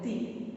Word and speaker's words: the: use the definite article the. Okay, the sometimes maybe you have noticed, I think sometimes some of the people pronounce the as the. Some people pronounce as the.